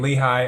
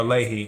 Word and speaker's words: Lehigh: observers watch as um lehigh or leahy however you want to pronounce that county workers count ballots